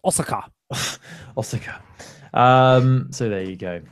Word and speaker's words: Osaka: This is going to be held in, I'm probably saying this completely wrong, Osaka in Japan. Osaka? I think you'll find it's pronounced Osaka.